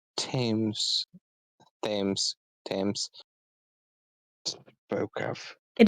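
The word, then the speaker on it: Thames: it does um this curse they that s tames tames tames spoke of it is it is spelled themes but I think yeah like TS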